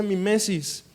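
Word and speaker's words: μίμησις: en particular que que en griego se pronuncia mimesis O mimetizar de ahí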